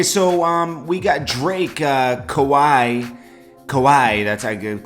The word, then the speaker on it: Kawhi: tuning in okay so um we got Drake kowai kowai that's a good Kawhi Leonard that's how I guess you say his